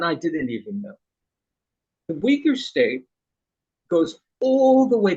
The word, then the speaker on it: Uyghur: ruled by China sometimes how long do you think the weakers were not pronouncing it quite right yeah say that again do you know how to spell that Dave that this this group I'm u-i-g-y-a-r okay that's the that's an English transliteration okay how far back do